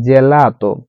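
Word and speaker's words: gelato: এখানে বোরকা উচ্চারণ হচ্ছে জেলাত।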